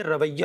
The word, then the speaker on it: رویہ: یہ رویہ ہے، را پر بھی زبر ہے، واو کے زبر